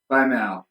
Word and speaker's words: Baimel: if you're just sitting here arguing over the pronunciation. No, it's Baimel!